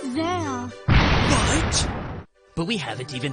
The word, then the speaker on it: Zexal: We're going off air and being replaced with this kid from Zexel. It's pronounced Zale.